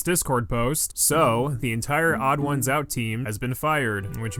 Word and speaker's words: TheOdd1sOut: out would uh odd odd ones out I I'm so Odd Ones Out is how you say his name.